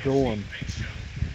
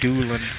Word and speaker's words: Dolan: Dolan. It's pronounced Doolin.